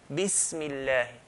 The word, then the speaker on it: Bismillahi: What we need to do is just to hold and then let go. Bismi. Make a sharp S sound, hold, let go. Bismillahi. And not qalqala, echo sound, bismillahi, but bismillahi. So bismillahi.